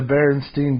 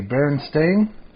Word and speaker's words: Berenstain: saying right here that it's never been the berenstein bear that's spelled with an a berenstain yeah that's crazy now